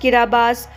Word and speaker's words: Kiribati: The 33 atolls that make up Kiribati, pronounced Kiribati, occupy nearly 4,000 kilometers in the equatorial Pacific from east to west and more than 2,000 kilometers from north to south.